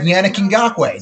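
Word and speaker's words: Yannick Ngakoue: I appreciate epic booty clappers in general, but also thank you for the phonetic pronunciation. I had it right, Yannick Ngakwe.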